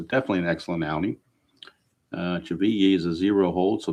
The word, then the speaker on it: Chivilli: It is Cheveye. I thought it was Chevilly when I saw the name, but it's actually pronounced according to their announcers, it is Cheveye.